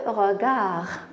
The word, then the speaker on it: regard: Le regard. Très bien. Donc, ici, je n'entends pas D. Je ne dis pas le regarde, mais on dit le regard.